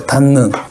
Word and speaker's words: 닫는: 닫는. 디귿하고 니은이 만났어요. 그러면 디귿은 니은으로 바뀌어요. 그래서 니은으로 바뀌고 느는 그대로 오면 되죠. 이렇게 발음이 됩니다.